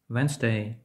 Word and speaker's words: Wednesday: Літера D не вимовляється у сполучення ND, річі DN в складених словах. Sandwich, Wednesday, handkerchief.